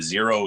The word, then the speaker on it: Xero: sense and then um the x is just to be different it's like i didn't i didn't want to spell it with disease just to be different hey hey get that that little clickbait right there but i get people all the time still that spell that with the z and i'm like no it's x or people that'll hear my name zero and i'm like yo